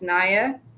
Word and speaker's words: Naya: I pronounce my name as Naya, so Naya. I think between one of the letters, it's a short sound instead of a long sound.